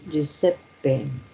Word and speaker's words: Giuseppe: Giuseppe. Entonces, esto se pronuncia así.